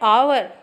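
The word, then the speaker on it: hour: है इसलिए तुरंत लगा है यह भी एक साइलेंट रहता है आवर तो अवर इसलिए खास है ना आंसर है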